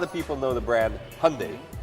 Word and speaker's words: Hyundai: brand is it highly Hyundai or is it your name that's easy its Hyundai like Sunday there you go told